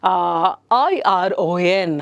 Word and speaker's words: iron: R is silent there.